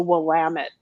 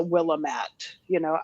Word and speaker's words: Willamette: And then as the pronunciations, like I get, like people who aren't familiar with Oregon may not know that it's the Willamette Valley, not the Willamette.